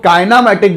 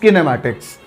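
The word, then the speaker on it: kinematics: Actually बहुत सारे लोग इसको काइनामैटिक बोलते हैं, बट the real pronunciation is किनेमैटिक्स.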